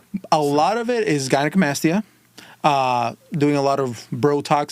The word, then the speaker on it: gynecomastia: Oh, the scientific term is gynecomastia.